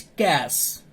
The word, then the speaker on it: cache: Okay, so in session 3 topic 4 कैच memory. Today is our topic कैच memory. कैच memory is pronounce as कैश.